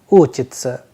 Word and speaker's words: учиться: with sa and ya, that is why the pronunciation is uchitsa.